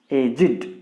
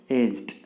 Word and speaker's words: aged: That's why when it is used as adjective, it should be pronounced as aged. We should not say aged.